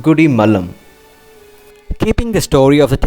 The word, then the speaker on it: Gudimallam: name goody palam and as we pronounce it it is turned into goodie malam keeping the story of